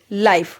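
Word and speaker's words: life: तो देखो यहां पे इ है ना वो साइलेंट हो जाएगा। उसका कोई साउंड नहीं निकलेगा। वो साइलेंट हो जाएगा। और आई का साउंड क्या निकलेगा? लॉन्ग लॉन्ग आई हो जाएगा।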